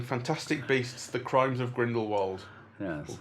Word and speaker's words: Grindelwald: And uh we've come back from singing Fantastic Beasts, the Crimes of Grindlewald. Yes. Grindlevald as if as they're keen on pronouncing it to sound all hoy toy and hoy and posh and blah blah blah blah.